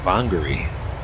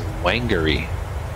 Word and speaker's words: Whangarei: name today's arrival Airport Way wrong it's actually pronounced bongary I was I thought it was wengery that is pronounced Hungary so learn something new